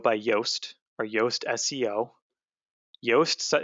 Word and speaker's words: Yoast: yoast or yoast seo yoast is is spelled like toast but with a y now that plugin will